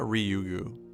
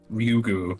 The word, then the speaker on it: Ryugu: Regarding Rena Ryuga, Ryagoo is how do you pronounce her name again? It's Ryua. Rena Ryugu. Ryugu.